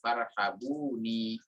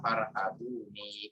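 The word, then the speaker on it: فَارْهَبُونِ: Jadi sebetulnya boleh ketika kita membaca wa iya ya farhabun ya. Karena bang huruf hukum tajwidnya membaca disukunkan pada huruf akhir, atau boleh juga dibaca wa iya ya farhabuni. Jadi ada dua qiraat yang memang membacanya seperti itu.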